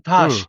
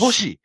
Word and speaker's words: Tosh: It's not even Tash. It's Tosh. Toshi. Right? T-O-A. Yeah. But they dropped I and it just became Tash.